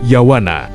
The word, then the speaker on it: Yavana: Dan pelafalan untuk yavana biasanya kita sebut sebagai yawana.